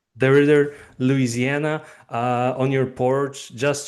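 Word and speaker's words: DeRidder: How do you pronounce that? Yeah, that's right, DeRrider. DeRrider, Louisiana, on your porch, just chilling.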